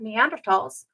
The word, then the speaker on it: Neanderthal: things is because when we meet up with neander tals they develop those thought processes and we develop